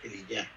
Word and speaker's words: Elías: Se pronuncia Eliyá, mi Dios es Jehová.